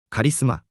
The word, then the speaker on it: カリスマ: We say カリスマ、 same meaning as English, but in Japan it has its own culture.